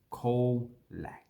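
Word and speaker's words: Colac: on so call black and you see that coal lag so the two c is pronounced the same so that should be this should actually be call lag caller so you can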